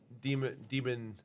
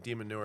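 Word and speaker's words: de Minaur: Emma Raducanu signed in there as well, as so did Alex Demon. Keep on messing this guy's name. It's not pronounced like Demon Newer.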